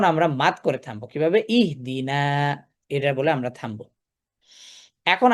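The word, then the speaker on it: اهدنا: তাহলে এখানে দেখতে পাচ্ছি দাল কাসরদি কাসরটি কাসরটি হামজাতুল ওসলের ওসলে দিয়ে উচ্চারণ করব। ইহদিনা ঠিক আছে গেল।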